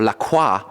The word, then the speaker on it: LaCroix: that is your answer Lacroix or Lacroix if you want to be French about the pronunciation is actually headquartered in